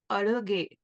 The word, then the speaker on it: Azhage: And then the chorus in Tamil, which I will not butcher with my pronunciations. Okay. So it's Azhage.